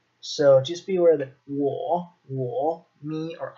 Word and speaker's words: 我: Okay, and this is pronounced 我.